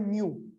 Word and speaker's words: mu: This is micro is u mu. इसको mu कहते हैं. It's like आप u लिखें u, उसके साथ थोड़ा सा इस तरह से एक्सटेंड कर लें. It's mu. इसको प्रोनाउंस करते हैं mu. We call this mu. It's a Greek letter.